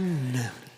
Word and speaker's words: Alcuin: And I'm not sure exactly how you pronounce the name of that award. Alcuin. A-L-C-U-I-N. Alcuin. Award. Alcunan.